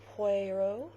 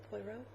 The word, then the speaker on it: Poirot: still watching agatha christie's puerto did i say it right this time poirot poirot i'm in series five